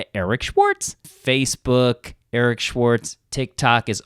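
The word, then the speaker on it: Eeeric Schwartz: You can follow me on social media, Instagram, Eric Schwartz with 3 E's. That's EEERICSCHWARTZ. It's pronounced Eric Schwartz.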